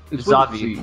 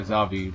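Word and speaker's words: Xavi: Next, how do you pronounce this? Zavi. Yeah, Zavi. With an X, though.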